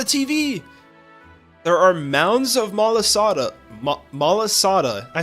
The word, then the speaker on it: malasada: There are mounds of malasada, I said it right, waiting for you. Join us to enjoy some marvelous malasala.